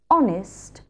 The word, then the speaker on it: honest: The words that begin with a silent "h" that are used most often are "hour", "honest", "honour".